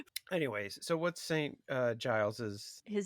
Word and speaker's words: Giles: So it's definitely Giles and not Guiles. Like definitely not a hard G.